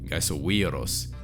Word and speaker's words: Gaisoviros: Another example of penultimate stress is in the name of this channel, Gaisoviros.